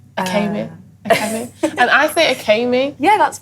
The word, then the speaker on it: Akemi: right yeah yeah um my name said okay me but evan says it differently but that's fine it is felt like maybe it could be a chemist yeah yeah you just pronounced e like an a kind of thing